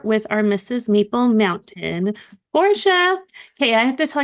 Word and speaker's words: Portia: chats, I'm like, it's Portia, but Yeah. it's Portia. But that's how you spell it. If you ever want to look me up, just think Portilla. Portia.